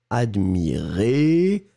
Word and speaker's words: admirez: deux je regarde oui le premier admirait qui monte et le deuxième admirez qui descend d'accord admirait admirez vous